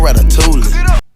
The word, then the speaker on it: ratatouille: Call me Quavo Ratatouille. Did he just pronounce the L in ratatouille like some kind of plebeian?